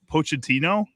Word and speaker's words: Pochettino: but this is Mauricio Poent Pochettino, I think, is how you say it.